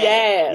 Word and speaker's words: Yaz: Like Jazz. Sorry, Yaz. Yaz.